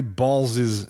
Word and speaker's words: Balals: Harry Balls' name earns national and international attention. Balls spelled Balals. Balals. Correct. Okay. All right. But it's pronounced balls.